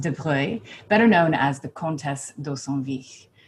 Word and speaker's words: de Broglie: that is anger's portrait of louise de bruy it's spelled de broglie but it is pronounced debre better known as the contest although technically when